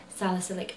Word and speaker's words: salicylic: ocean which is a toner and it has salicylic acid in and never pronounce that right I've got it right this